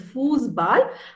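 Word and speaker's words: Fußball: means house then football is foosball okay it's pronounced as foosball i have put a double s over here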